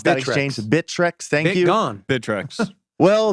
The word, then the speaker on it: Bittrex: whatever for bid Rex bittreck how do you pronounce that exchange bittrex thank you gone bittrex well they're not out